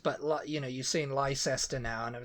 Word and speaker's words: Leicester: close together is you know it's like or Lester you know but it's Lancaster yeah yeah so